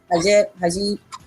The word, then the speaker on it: hijab: That's how you pronounce it, right? Hijab.